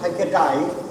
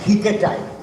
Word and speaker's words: hiketai: So that's why it will be pronounced as hiketai. H-I-K-E-T-A-I.